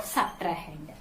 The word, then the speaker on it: subtrahend: S-U-B-T-R-A-H-E-N-D. Subtrahend. Okay. The second number, which number you are subtracting, is called subtrahend.